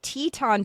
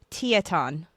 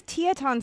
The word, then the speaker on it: Teton: to pronounce this and we've been pronouncing it wrong the whole time. It's Teton, but over here it says Taton. Oh So, it's Teaton Cider Works.